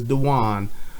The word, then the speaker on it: Dwane: Dwane Simmons, that looks like Dwayne, but it's Dwane. But that's how they pronounce it.